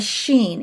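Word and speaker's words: שׁ: And so one of those is now a sin, and it is today pronounced like our letter S, or a sheen. It's a SH sound.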